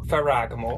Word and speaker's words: Ferragamo: said it right it's salvatore it felt ragama ferragamo did you hear so we went to the